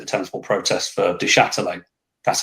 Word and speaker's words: Duchâtelet: Charlton fans did the tennis ball protest for Duchâtelet. That's how you pronounce his name, by the way.